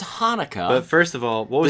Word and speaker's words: Hanukkah: ask you about cha but first of it's pronounced Hanukah but first of all what the CH is